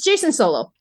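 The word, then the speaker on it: Jacen Solo: it okay who is this who are they Jason solo Darth cages is that how you say his name whatever foreign it's Jason it's Jason solo okay um so for anyone who's not aware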